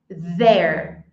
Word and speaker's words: there: E como eu pronuncio isso? There. There. TH vozeado.